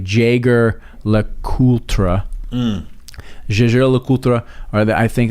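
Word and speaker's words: Jaeger-LeCoultre: and if you looked at it would be pronounced like Jager Le cultra um or that I think a lot of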